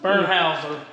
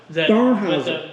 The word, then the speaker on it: Bernheisel: Is it how do you pronounce it? Bernheisel? Bernheisel. Bernheisel.